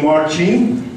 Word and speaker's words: Marcin: As you notice, his name is really Marcin. You pronounce it correctly, and so we are comrades, right?